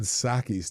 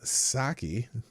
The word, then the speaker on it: Psaki: Every time I hear her name or say her name, I just think of a little white cup with some warm liquor in it. You know what I'm saying? A little warm sake.